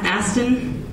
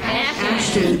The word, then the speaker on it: Ashton: Aston Kutcher? Yeah. Is that how you say his name, Aston? Ashton. Ashton. Okay, I don't want to call him an ass.